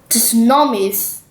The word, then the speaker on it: tsunamis: going to read about tsunamis uh so when you pronounce the word tsunamis don't forget to uh yeah so you this tea is invis you do not need to say the tea not tsunamis no tsunamis yeah like